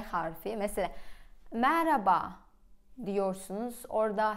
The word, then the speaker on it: merhaba: Ben araştırdım ve H harfi söyleniyormuş. Fakat mesela Mehmet, baharat böyle diyorsunuz. Ben mesela konuşurken baharat diyorum. Ya da Mehmet diye konuşuyorum. Merhaba diyorum. Merhabalar. Merhaba. H. Yani H bile aslında okunuyormuş ve okumuyorsunuz. Neden?